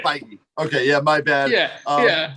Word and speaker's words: Feige: producers, actors, directors, Kevin Feige. I don't know if I always say his last name wrong. Did I say it right? It's Feige, but it's okay. Feige.